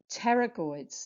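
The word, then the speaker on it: pterygoid: have the ter peroids silent P sounds like a pterodactyl um teroid now these are medial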